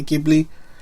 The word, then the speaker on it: Ghibli: And as mentioned before, it was a co-production uh with studio Gibli. I say Gibli. I know some people say Gibli, I say Gibli.